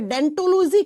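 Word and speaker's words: Odontology: लिखा जाता है ओ से। इसकी स्पेलिंग ओ से होती है। लेकिन जब आप प्रोनाउंस करते हो ना आप अनुवादन करते हो ना तो बच्चा ओ साइलेंट हो जाता है और बन जाता है डेंटोलॉजी।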